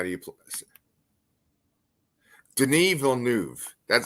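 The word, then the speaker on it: Denis Villeneuve: Denny Ville and the wave how do you Den vnu that's how they say it Den okay so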